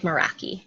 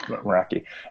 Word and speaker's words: Meraki: I don't know how to pronounce it. I think it's like Meraki. Yeah. Meraki.